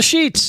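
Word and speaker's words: Sheetz: made his stop at the sheets at the sheets it is pronounced sheets right yes yeah I think I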